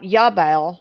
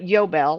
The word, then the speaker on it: Yobel: Not Yabel, but Yobel.